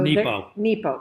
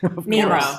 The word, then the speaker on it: Nepo: So Nepo. Mark Nepo. Did I say it wrong? Nemo.